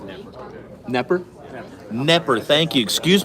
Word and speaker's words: Knepper: Yeah, it's pronounced Knepper. Knepper? Knepper, thank you. Excuse me to our Vegas viewers. That's my fault. That's all right. I've heard Knapper, I've heard Knepper, so I'm like, Yeah, it's Knepper.